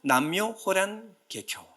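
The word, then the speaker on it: 南無妙法蓮華経: 그래요 나무 묘법 연화경 이것을 일본식으로 발음하면 남묘 호란 계교 남묘 호란 계표 남묘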